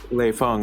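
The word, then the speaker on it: Lei Fang: arrogant or ignorant of how to say the lay phong name and i found out the type of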